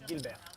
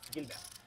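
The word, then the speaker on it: Guilbert: How do you pronounce it? No, my official last name is Gilbert. Gilbert.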